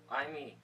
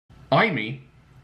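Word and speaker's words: Aimi: Imee. Okay. Imee? I bet he's thinking, Imee a new girlfriend. And it is spelled A-I-M-I.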